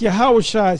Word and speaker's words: Yahawashi: uh the Lord speaking that's yahawashi speaking which is the uh true way of pronouncing the name of Jesus yahawashi go ahead and